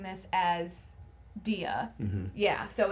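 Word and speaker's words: Dea: In this movie, she plays, and we've been pronouncing this as Dia.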